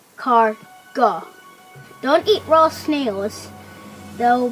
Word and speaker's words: escargot: are popular french delicacy known as escargot pronounced as car go don't eat raw snails